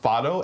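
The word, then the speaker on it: Fado: it up this morning and it says it's pronounced foto f a d o um it is a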